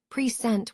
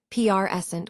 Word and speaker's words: present: As a verb, present with stress on the second syllable, it means to show or display. As a noun, present with stress on the first syllable, it refers to a gift or the current moment.